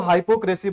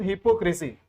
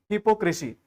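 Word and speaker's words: hypocrisy: बहुत सारे लोग इसको हाइपोक्रेसी बोलते हैं। This is नॉट हाइपोक्रेसी, this is हिपोक्रेसी। इसका करेक्ट प्रोनाउंसिएशन है हिपोक्रेसी।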